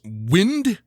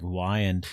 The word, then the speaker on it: Wiand: It's pronounced Wind, but it is spelled Wiand. Okay. I thought it was like Wyand.